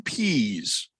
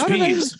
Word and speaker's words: Pees: the defensive coordinator of the patriots uh dean pease well why haven't i heard this name before it is spelled p e e s p i don't